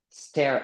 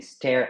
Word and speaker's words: stare: et enfin le dernier stare at donc stare donc là c'est pas star at mais stare at là c'est un e limite stare exactement regardz avec insistance